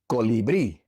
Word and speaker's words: colibrí: This word ends in a vowel, and so naturally the second to last syllable would be stressed. But the last syllable is stressed, and so we have to write an accent mark above the I.